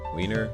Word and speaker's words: Wiener: refer to just a Wiener sausage, or it's also often used instead of penis. In German, we say Wiener. The German W is pronounced like an English V, and it usually refers to the sausage.